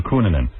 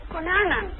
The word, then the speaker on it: Cunanan: All right, how do you say Cunanan or Cunanan? Cunanan. How? Cunanan, like Herbert's father said, Cunanan.